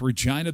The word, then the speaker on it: Regina: Regina, the city that rhymes with fun.